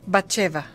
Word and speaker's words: Bathsheba: ¿Sí es correcta la pronunciación? Muy bien. ¿Bathsheba o Bathsheba? Bathsheba.